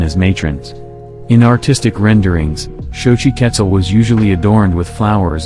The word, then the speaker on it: Xochiquetzal: thank you Shoji quetzel Shoji quetzel pronounced shochi ketzal was the Aztec goddess